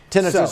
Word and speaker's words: tinnitus: tinnitus right yes okay tinnitus or tinnitus they pronounced it both ways now I have a